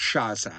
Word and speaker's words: Sciascia: a s a s c i a, it's pronounced Sciascia."